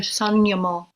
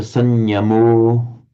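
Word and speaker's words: saṃyamo: But when you pronounced sanyamo at the end of the first line, you kind of shortened the vowel somewhat, Okay.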